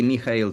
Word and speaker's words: Mikhail: Well, you could say Mikhail. Mikhail, like Gorbachev.